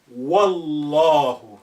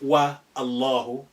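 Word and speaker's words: والله: But if you put wow there, by God, you say Wallahu, not wa Allahu.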